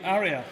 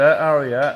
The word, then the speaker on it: Aria: Well, so we're told that because of the way they say Aria, it sounds like Harrier.